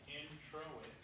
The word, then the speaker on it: introit: The introit, pronounced introit, comes from the Latin word introdius, which means entrance.